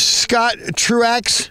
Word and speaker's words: Scott Truax: and talk to him I I'm here with Scott Truax so you see your name Scott I don't